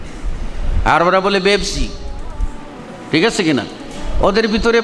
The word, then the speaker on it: পেপসি: নাই এজন্য দেখেন না আরবরা পেপসি বলতে পারে না বলে বেপসি আরবরা বলে পেপসি ঠিক আছে কিনা ওদের